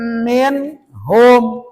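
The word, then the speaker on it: منهم: nah ya terus lagi min kenapa dibaca min tidak dibaca m sebab ada nun mati ke depannya ada huruf ha itu termasuk huruf idha idha apa arti Idar jelas. Jelas huruf n-nya min hum putuskan kebanyakan.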